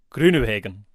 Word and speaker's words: Groenewegen: Groenewegen. I think that's a harsh intervention from the police there, because you got that pronunciation direct from our Dutch friend Dan Hackenberg.